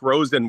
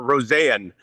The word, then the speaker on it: Rosen: This is Rosen we're talking about or Rosanne, I believe, is how the pronunciation is. Is Rosanne. We'll have to get used to saying that. It's sort of like Yoel Arma. Um, so it's not Isaac Rosen as much as some people